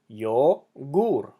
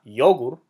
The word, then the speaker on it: yogur: Yogur ends with an R, so it's yogur, not yogur, yogur. Okay?